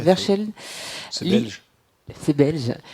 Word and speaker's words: Verscheld: Verscheld, je l'ai bien prononcé? Tout à fait. Verscheld.